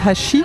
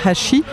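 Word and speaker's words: 箸: Donc il y en a un où l'intonation finale est ascendante et l'autre descendante.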